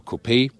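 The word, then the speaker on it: coupé: suv front grille whereas the gle coupe or copay we always say copay because we lean to the french original pronunciation there's also a separate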